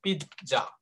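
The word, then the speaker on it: pizza: বলবো যেমন আই ইট পিৎজা, PI ZZA। উচ্চারণটা খেয়াল রাখতে হবে, এটা কিন্তু পিজা না কিন্তু। হ্যাঁ, এটাকে বলা হয় পিৎজা। পয় রস্বইকার খণ্ডত, খণ্ডত্ব আছে না একটা, পিৎজা। উচ্চারণ হবে পিৎজা, আই ইট পিৎজা।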